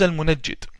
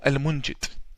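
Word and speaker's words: al-Munajjid: mufti's in saudi arabia his name is al-munajit or al-munjit depending on the pronunciation the yemenis call him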